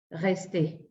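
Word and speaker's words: rester: Alors, la canción, bueno, antes aquí vi, dice, cuando termina en ER se pronuncia, por ejemplo, resté. No, lo que pronuncio es resté. Ya la R final, esa ya no suena, ¿sale?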